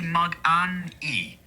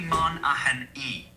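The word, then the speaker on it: Magnanni: It should be Man-a-hen-E, with the stress on the second syllable.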